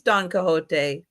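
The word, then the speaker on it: Don Quixote: And Don, how do you say that? Don Quizote. I don't know. Oh, that is Yeah, that is Don Cahote.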